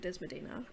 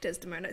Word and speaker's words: Desdemona: while also in the context of Othello and Desmodina and all that. Desdemona.